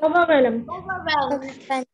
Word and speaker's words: overwhelmed: R is silent. Okay. Overwhelmed. Overwhelmed. Repeat the word after me. Overwhelmed.